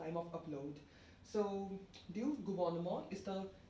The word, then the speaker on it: gouvernement: So, du gouvernement is the correct option here. Gouvernement. Slightly different pronunciation and the spelling as well when compared to English.